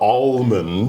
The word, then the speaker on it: almond: mention this is important the L in Almond is kind of a silent L all right so it's not like almost it's not almond almond it's more of a an au like August almond it's more of that kind of sound so yeah you don't